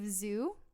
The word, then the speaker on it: Xu: Steve Zhu, I believe is how it's pronounced, XU.